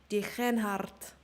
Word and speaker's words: Degenhard: You have to pronounce the G. Degenhard. Degenhard. Okay, I'm going to do it in the most American accent ever. Simon Degenhard. In Germany, we do not say the weird Dutch G.